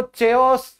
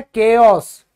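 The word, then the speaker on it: chaos: White simple white अव्यवस्था कई बच्चे इसको चओस चाओस चाओस करते रहते हैं। चायोस की तो बेटा चाय होती है। ठीक है? ये होता है केओस। H silent.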